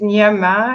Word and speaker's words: Gnama: My name is Nia-ma. You can call me Nia. Yes, Nia, short for Nia-ma, and easier to pronounce because the way it's spelled, Gnama, a lot of people don't know how to pronounce it.